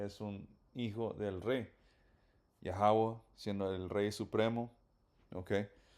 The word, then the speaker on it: Yahweh: So, esta letra se pronuncia Ya, esta es Ja, esta letra es Wa y otra Ja. So, todo junto y estas dos letras están conectadas. So, todo junto sería Yahweh, pero se escribe Yahweh, pero de nuevo se pronuncia Yahweh.